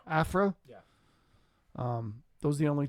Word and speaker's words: Aphra: Aphra. Aphra.